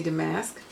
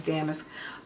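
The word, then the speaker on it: damask: Um, and this one is called Regency de Mask or Damisk. Apparently I've been saying it wrong. It's Damisk.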